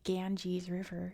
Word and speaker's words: Ganges: But then I realize I say Ganges River because that's how you say it in English, but that's because that's how the British pronounced the Gangas River, the Ganja River even.